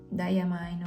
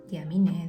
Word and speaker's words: Diamine: Entonces, lo bueno de los calendarios, que salen normalmente en diciembre, de Diamine o Diamine, depende, no sé, cada uno la pronuncia como quiere, esa marca, o como sabe más bien.